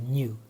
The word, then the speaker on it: nu: to pronounce that letter that symbol looks like a v right it's like a cursive via script v it's actually nu it's also a greek letter and that is often